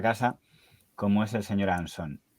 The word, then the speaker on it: Anson: Sí pero entiende que todo el mundo lo pronuncie onson Aunque supongo que en honor a la etimología habría que decir Luis María anson y Rafael anson pero es algo que